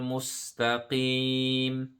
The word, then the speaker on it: مستقيم: We need to distinguish the sound between the sod and the sin. So just smile when you say the sin. Mustaqim. Sirata. Ta. Si. The sod is a heavy letter here. So sin will be like C, but this is a sod. So si. Sirata.